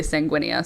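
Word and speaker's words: sanguinea: It's sang sanguin and then an a on the end, but it rhymes with zenia if I say sanguinia, so that makes sense.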